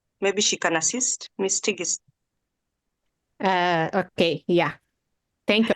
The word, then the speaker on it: Tigist: uh Dr tigist maybe she can assist Miss tigist uh okay yeah thank you at least you